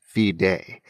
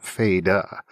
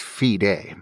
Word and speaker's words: Fide: The last name is pronounced Fide. Too often, people mispronounce the last name Feda. It is pronounced Fide, like in the Latin word fidelis.